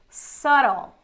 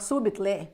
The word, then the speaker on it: subtle: saying or what you they were doing so subtle subtle not subit but subtle soon as said gez yeah not